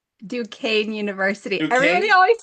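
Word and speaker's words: Duquesne: Duke Kenzie. How do you pronounce it? Dukane University.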